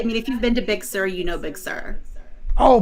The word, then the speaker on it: Big Sur: Yeah, Big Sur. Big Sur, not S-I-R, it's S-U-R.